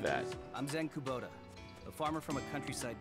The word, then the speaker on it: Kubota: Okay, some of these names are easy to pronounce. There's like Sach. Oh, okay, I'm kind of getting Sachika's now, so. Zen Kubota. All right. Nice to meet you too, Mr. Kabuto.